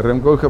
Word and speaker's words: Rem Koolhaas: Bueno, hay autores, Rem Koolhaas, se pronuncia Rem Koolhaas, por ejemplo, él hace sus papers sobre sus propias obras.